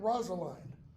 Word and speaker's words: Rosaline: scene three Celia and Rosaline and and notice again rosaline's name can be pronounced Rosaline or rosalin and the way we're